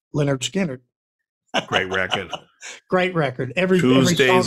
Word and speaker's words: Lynyrd Skynyrd: And that's Lynyrd Skynyrd, pronounced Lynyrd Skynyrd.